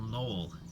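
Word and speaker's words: knoll: called the k word a little null k n o l l that's apparently hard for me to pronounce a null on the west side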